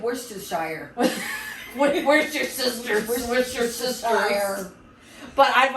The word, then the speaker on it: Worcestershire: I know that's how it's spelled. Kielbasa. Yeah. It's like Worcestershire. Where's your sisters?